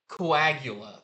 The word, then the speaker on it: Coagula: It's like Caligula, but Coagula.